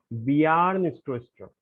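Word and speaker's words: Bjarne Stroustrup: इस नाम को आपको पढ़ना है बियार्न स्ट्रोस्ट्रो। बियार्न स्ट्रोस्ट्रो, ठीक है ना।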